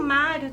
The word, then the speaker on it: Mário: não havendo acento e o Mário também né Mário tá vendo que o mar falamos com mais tonicidade e a última o